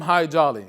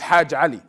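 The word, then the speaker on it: Hajj Ali: a name but he they call him high jolly because they couldn't really pronounce his name properly which is hajjali so he lived in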